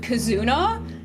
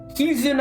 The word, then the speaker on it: Kizuna: and hate how you pronounced her name cuz I you said Kazuna and that I just imagine a Kazoo VTuber and then you said not and I'm like oh Kizuna I who I saw live at offkai.